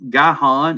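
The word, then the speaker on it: Gihon: you have verse 13 guy Han is how I have always pronounced that goes around the whole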